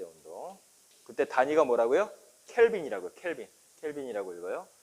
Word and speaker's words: 켈빈: 켈빈이라고 읽어요. 켈빈 클라인 아니에요. 켈빈.